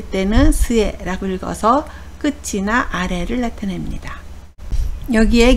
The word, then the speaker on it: 末: 훈독은 스에라고 읽습니다.